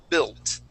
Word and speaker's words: built: that word okay and instead of saying bill okay and using a uh like a long e type sound like an e sound we're gonna use that short i okay and we wanna say bill built try that please build